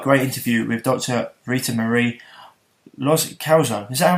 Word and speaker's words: Loscalzo: Ritamarie Loscalzo. Is that how I'm saying it right? Loscalzo, really close.